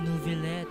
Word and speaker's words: Neuvillette: Ah, Neuvillette. Okay. Tama pala yung pronunciation ko.